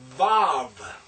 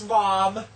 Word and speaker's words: Vav: The next one is Vav. Now, this is the V. I have also seen it as W. That's technically the classical Hebrew way to pronounce it.